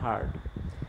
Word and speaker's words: heard: তার past participle form হলো হার্ড, HEARD, হিয়ার্ড উচ্চারণ করবা না, হার্ড।